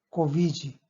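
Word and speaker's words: Covid: 뭔가 하니까 코비지, 발음은 코비지라고 발음합니다만, 예, 이거는 그 코로나 바이러스 디지즈, 그죠?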